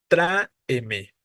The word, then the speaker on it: tráeme: palabra es la siguiente escribiríamos la división silábica así tra e me no tenemos tres sílabas y la tónica es la a tráeme tráeme no Entonces es esdrújula